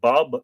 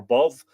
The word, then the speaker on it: Badb: hateful; Nemon, the venomous; Bao, or Badb, Bob, if you prefer, or Bov. Bao is how I've heard it pronounced in modern times.